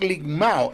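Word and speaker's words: λικμάω: conflicto el término el desmenuzar del griego es limao ese término que aparece en el pasaje es limao se escribe l I k m a o limao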